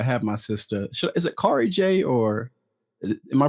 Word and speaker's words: Kari Jay: me today i have my sister is it cary jay or am i pronouncing it right carl it's carjay all right cary j so listen whenever i